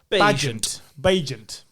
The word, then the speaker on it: Bagent: have been, but Tyson Bagnet? You tell me, because I've heard it pronounced in several different ways, and I feel like I'm getting it wrong. Bagent. Right, Tyson Bagent.